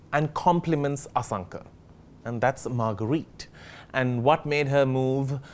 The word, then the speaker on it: Marguerite: show thanks for having how many people get your name wrong like me most yeah obviously yeah because Sri Lanka is used to a Margaret than a margarita or a margarita yeah like the drink I was here on